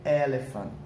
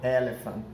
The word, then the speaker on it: elephant: Só tem uma diferençazinha, fica elephant. Bem mais suave o final, elephant.